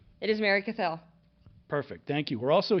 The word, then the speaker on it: Mary Cathell: Did I get the pronunciation right? It is Mary Cathell.